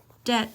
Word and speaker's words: debt: designers designer clothes debt debt is not depth it's a silent B another silent be in